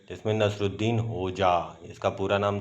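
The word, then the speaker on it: Hodja: गई है, जिसमें नसरुद्दीन होजा, इसका पूरा नाम था नसरुद्दीन होजा। इसमें जो डी है वो साइलेंट होती है।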